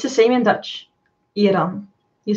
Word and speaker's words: Iran: Did you, the guy who was talking about Iran said that he is surprised that I pronounce it the right way. Mm. But it's the same in Dutch. Iran.